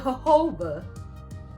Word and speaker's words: jojoba: ornament cappuccino cappuccino jujuber jojoba so i said jojoba oh cause the j's are silent no i think that this they're pronounced as h's jojoba sponge maybe that